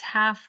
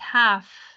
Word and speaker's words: half: path yes so it's half past five indeed what time is it is half the pathways a half okay L is not pronounced half past eleven e hello